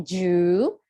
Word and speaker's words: Jew: Jew, itu bacanya Jew.